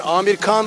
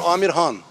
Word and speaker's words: Amir Khan: For example, is good pronunciation Amir Khan or Amir Han? Amir Khan. Amir Khan, yes. Yes, you yes, you're right. Yes, you did correct.